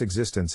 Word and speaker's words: existence: To pronounce existence, have in mind that the size of the syllable indicates where the accent or stress is. In this case, the accent is in the second syllable, corresponding to zis.